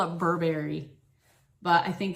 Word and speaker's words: Burberry: I want to call it Burberry, but I think it's pronounced Burberry.